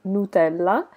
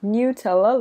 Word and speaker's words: Nutella: time is with Nutella I am Italian so I normally pronounce this Nutella that is the Italian name but I know that in English you pronounce this as Nutella let me know in